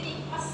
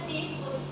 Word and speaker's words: tifus: Cuman rata-rata orang bacanya enggak baku. Jadi tipes harusnya tipus ya. Tipus.